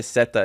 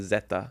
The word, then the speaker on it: Zeta: Z is pronounced like S, D is pronounced like T or K, C is pronounced like K or T.